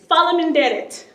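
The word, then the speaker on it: faleminderit: their firstborn daughter in marriage, you can say, Fala minderit.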